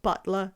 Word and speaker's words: butler: Or do I get them an actual butler? We could do that. I should pronounce the T in that word. Butler.